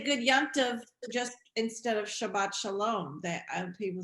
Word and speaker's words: Shabbat: Shabbat. They Good say Shabbos. Shabbos. Good Good Shabbos. Shabbos. Yeah. It's the Ashkenazi Yeah.